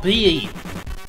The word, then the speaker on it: Prix: You never remember that the X in Prix is silent. Well, it's French. Grand Prix.